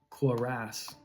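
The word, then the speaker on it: cuirass: I think it's curass. Could be wrong. Oh, crass. Corass. Quorass. That's how you say it.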